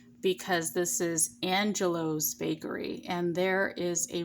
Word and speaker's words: Angelo's: this is angelo's bakery i know in my last videos it almost sounded like i was saying angela's bakery but um i'm going to over pronounce the o because this is angelo's bakery and there is